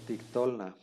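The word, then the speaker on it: תקטלנה: Aquí tenemos una palabra que dice tictolna, se lee tictolna. Tictolna, vean aquí el acento está en la O.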